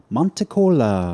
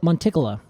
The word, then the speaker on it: monticola: Today we are talking the western white pine, Pinus monitcola. Exactly. Now, some people pronounce it monticola, just to be clear. That sucks. You're like, Those people are wrong.